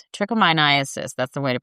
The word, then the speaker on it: trichomoniasis: All right, so it's called trichomoniasis. That's the way to pronounce it.